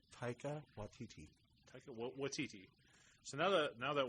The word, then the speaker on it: Taika Waititi: Taka Waititi. Taika Waititi.